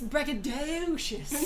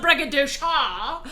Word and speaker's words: braggadocious: anyway it's fine um you might have put the emphasis in the wrong it's braggadocious not braga dosha exactly exactly grateful it's